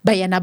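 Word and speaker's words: Banyana: How do they pronounce it? Bayana.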